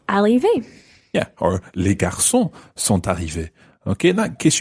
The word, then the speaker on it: sont arrivés: yeah, or les garçons sont arrivés. Okay, in that case, you probably would pronounce the t of sont arrivés.